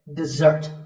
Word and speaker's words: dessert: We stress the second syllable, dessert.